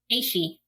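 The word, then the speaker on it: Ashe: Even though I want to call the companion Ash, I'm guessing it's Ashi or Ashay, something like that. Aishi. Aishi. Really? Aishi. That's right. Man. Yeah, it's Cell.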